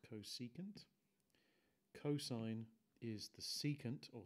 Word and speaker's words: cosecant: Pronounced cosecant.